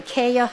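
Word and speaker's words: Cayia: afternoon thank you my name is Dr Kaya it's spelled c-a-y-i-a and I'm here to discuss uh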